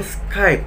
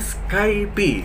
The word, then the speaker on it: Skype: nah Kalo yang ini Skype cukup sekali aja padahal bukan sekalipun Kebanyakan orang menyebutnya skypie ya bacanya sekali Pada cukup skip aja jadi kadang ketuker tunaiqq